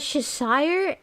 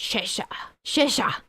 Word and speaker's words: Cheshire: I used to pronounce that Cheshire, and then my ex-British boss told me that it's not pronounced like that. It's pronounced Cheshire.